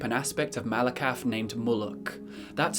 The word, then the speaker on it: Muluk: the goblins worship an aspect of Malakath named Muluk. That's spelled M-U-L-U-K, and it is very similar to the aspect of Malakath named Mauloch, acknowledged by certain orcs.